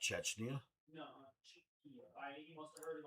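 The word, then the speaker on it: Czechia: Oh, and the mule said it's actually Cheekia. Say again? Cheekia is the pronunciation of this country. Cheekia. Not Chechnya? No, Cheekia.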